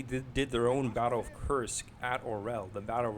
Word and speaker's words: Kursk: And so they took more territory than the German army did when they tried to take Kursk, or Kursk would be the better pronunciation.